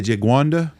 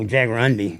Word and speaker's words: jaguarundi: Is that the Jaguanda? I don't know how you pronounce it for sure, but Because those are in Texas in some places yeah, too. no, Jaguarundi.